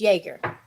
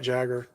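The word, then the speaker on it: Jäger: left it Mike said you say it wrong it's Jaeger it is Jaeger I said it wrong I'm thinking about moves like Jagger Jagger Jagger Jaeger all right so it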